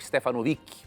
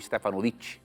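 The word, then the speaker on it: Stefanović: Revelação de Jesus Cristo, comentário sobre o livro do Apocalipse, de Ranko Stefanovic, ou Stefanovic, como alguns também pronunciam.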